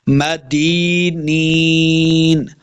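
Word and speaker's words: مَدِينِينَ: کر کے پڑھیں گے، آخر پہ نون کو ساکن کرنا ہے، مدینین، غیر مدینین، غیر مدینین،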